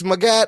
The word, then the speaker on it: Magette: He wrote, "It's Magat like Zagat.